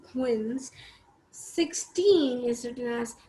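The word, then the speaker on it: quinze: written as q u i n set e wins 16 is written as c e i z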